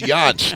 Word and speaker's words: Yantz: Yance.